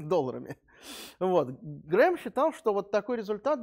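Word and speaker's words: Graham: по теории рамсея рональд грэхам ну лучше наверное грэм говорит так если уж совсем по по-настоящему по-английски там никакого хранит произношение фамилии никакого х нет но по-русски его почему-то вот так транслитерировать грэхам вот он к сожалению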